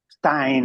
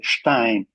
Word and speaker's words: Stein: I would prefer to use the ordinary British pronunciation of his family name, Stein. Of course, this is how generally it is known. Here in Pakistan, we know perfectly that his name should be rather pronounced Stein.